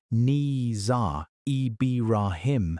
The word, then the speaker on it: Nizar Ibrahim: And in 2008, a graduate student named Nizar Ibrahim, pronounced Nizar Ibrahim, met a man in southern Morocco who showed him a cardboard box.